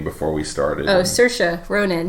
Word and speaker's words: Saoirse: You told me how to pronounce her name before we started. Oh, Saoirse Ronan. Saoirse Ronan was really, really good.